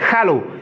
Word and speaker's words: Hallo: C'est pas Allo, non. C'est Hallo. Il faut prononcer le H qui est devant le nom.